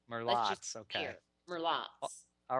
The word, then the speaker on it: Merlotte's: to correct you, but I forgot how it's Merlotte. I forgot. You know, I think you pronounced it. I was afraid that was the case. I think it's because I don't drink. And if you want to do it with the slight bayou twang, it's Merlotte's.